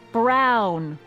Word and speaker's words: Brown: to a te that's EMT Brown rhymes with clown which I'm beginning to